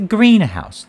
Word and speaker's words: greenhouse: If it's a compound noun, the stress is on the first part.